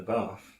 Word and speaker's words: bath: a laugh in the bath. There's no R in Bath. There is. Well, there isn't, but it's an elongated vowel sound.